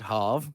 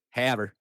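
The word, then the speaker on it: Havre: harv what is it it is like literally the most american pronunciation it's it's not it's not hov or anything it's haver it is full on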